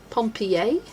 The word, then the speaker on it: Pompeii: We have Pompeii, Michigan, but it's pronounced Pompi A.